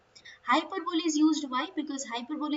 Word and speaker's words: hyperbole: device is used this is hyperbole okay the pronunciation is hyperbole hyperbole is used why because hyperbola is a figure